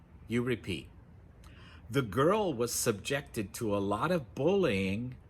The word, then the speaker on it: subject: The girl was subjected to a lot of bullying at school. So again, the stress is on the second syllable, subject. For the noun, we say subject.